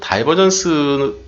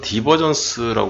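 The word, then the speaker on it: divergence: 책을 소개시켜줘서 고맙다고 어 다이버전스 또는 디버전스 얘기를 하는데요 영어이기 때문에 이제 다이버전스 하는 사람들도 있고 어 한번 실제 우리나라에서 발음을 어떻게 하는지 잠깐 볼까요 다이버전스 하기도 하고 디버전스도 하고 여기 디버전스 하고 다이버전스 둘 다 맞다는 얘기네요 그죠 발음이 미국식 영국식 뭐 이렇게 돼 있는데 발론 기호가 두 개 다 맞다라고 얘기를 하고 있네요 그래서 디버전스 이렇게 한국말로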